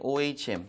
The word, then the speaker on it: ohm: 앞으로 읽을 때는 이제 오이라고 있습니다 발음할 때 ohm 발음으로 그래서 단위는 옴이라 단위를 쓸 거고요 요건 이제